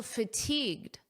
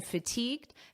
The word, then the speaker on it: fatigued: You may notice that the pronunciation is almost identical because this D in fatigued is extremely soft and you don't really hear it at a natural pace.